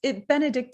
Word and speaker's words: Benedicte: And it's Benedicte. Am I saying it correctly? Correct.